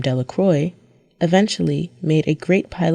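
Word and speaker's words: Delacroix: and Harry Jones and Dicky delacro the villagers pronounced his name delacroy eventually made a great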